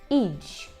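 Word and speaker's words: idź: Наприклад, у слові «жле», «жле», «жле» означає «погано», або у слові «іч», «іч», там навіть такий «дж» маємо, так?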